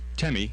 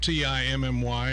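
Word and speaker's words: Temme: the ballot, you spell, the name is pronounced Temi, and Temi. Actually, you know, the affidavit that you file for your nickname, I'm going to be chief long after I'm chief, just like I was long before I was chief. So on the ballot is going to appear Temi. And you spell that? T-E-M-M-E. So be sure you're looking for not T-I-M-M-Y or anything. It's Timmy.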